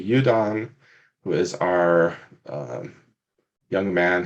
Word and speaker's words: Eúdann: sure we do first i know how i pronounce the names but i want you to tell me how we pronounce the three main characters that we have right now um so our main character uh that'd be udon who is our young